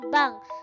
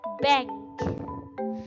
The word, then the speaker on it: bank: Bang itu bahasa Inggrisnya kalo dalam bahasa Inggris bukan Bang tapi membaca membacanya adalah bank Oke 1000 novel mi-band